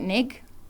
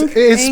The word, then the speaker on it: Ng: Because I get Nig, NG, whatever. Well, it is Ing, spelled.